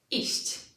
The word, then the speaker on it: iść: So one fundamental difference between sh and chi is that sh can continue into infinity. Sh. Prawda? I cannot do that with ch. Chi. Chi is a very, very short sound.